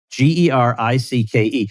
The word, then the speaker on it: Gericke: Gericke, which, by the way, means it was not originally pronounced Garrick, but you guys just gave up on anybody trying to figure it out.